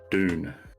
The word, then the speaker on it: Dune: for june called dune awake or do you pronounce it june or june the month no dune do i say june like sounds exactly like